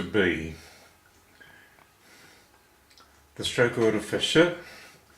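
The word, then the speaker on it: 是: the stroke order for sh which is pronounced like the first part of the word should is as follows we start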